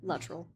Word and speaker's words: Luttrell: Luttrell.